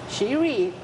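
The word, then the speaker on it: Chery: the car which we you could pronounce it Sheri this is the the pronunciation in Chinese so we are the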